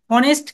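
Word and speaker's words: honest: এখন বলছে সি ইজ অনেস্ট girl আমরা জানি হনেস্ট যদিও অনেস্ট কনসোনেন্ট বাট অনেস্টের উচ্চারণটা ওই ও এর মত এর জন্য এইটা আর্টিকেল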